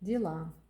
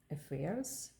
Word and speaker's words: дела: Did you notice the letter Л in cerillic is written like P Russian П and the English but is more softer and the left side there is that softer part. This sound is more hard respect in English. Л push your tongue against the upper teeth.